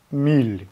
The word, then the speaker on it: MEYLE: Миль, как правильно произносится, это, скорее всего, так. Миль, наверное. Германия написано.